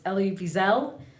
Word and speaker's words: Elie Wiesel: Again, it's Night, and it's Elie Wiesel. And I'll share the link because the name does not look like how you pronounce it, and I Googled how to pronounce